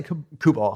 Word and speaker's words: Kubal: How do you say let's say Kubal. Kubal, yeah.